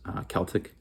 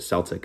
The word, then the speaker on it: Celtic: at this point was Celtic. Um Celtic is the proper way to pronounce it. Celtic is just a basketball team. Celtic is the actual historical term for the uh culture and people.